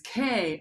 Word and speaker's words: Koldenhoven: Rhymes with Beethoven, spelled similarly, but the last name is Koldenhoven.